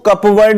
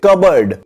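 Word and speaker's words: cupboard: Guys, इसकी pronunciation याद रखना, इसको कपवर्ड नहीं बोलते हैं, इसको बोलते हैं कबर्ड।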